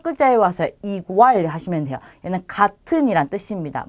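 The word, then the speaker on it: igual: 이로 발음하시면 돼요. 그래서 인터넷 하시면 되고요. 자, 그 다음 단어도 첫 글자에 왔어요. 이구알 하시면 돼요.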